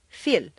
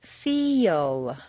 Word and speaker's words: feel: a word like feel if you say just the letters that you see it will sound more like Phil or Phil you you need to say feel is that really a y yes these mysterious semivowels